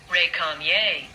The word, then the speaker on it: récamier: Recamier. Here, let's hit the pronunciation thing. Récamier.